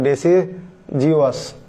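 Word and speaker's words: deciduous: শরতে পাতা ঝরে যাচ্ছে, তাহলে ডেসিজিওয়াস, এখানেও উচ্চারণটা হবে জ, পাতুক বা পাতা ঝরা।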